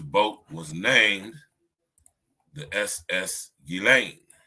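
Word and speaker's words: Ghislaine: with the British accent her name isn't giz L is gilain it's French you pronounce it gilain or gilan right Guillotine or gutin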